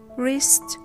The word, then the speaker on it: wrist: wreck, right, wrench, wreath, wrist, sword, answer, and to. What's come between all of these words? W is silent when it comes at an initial position before H and R.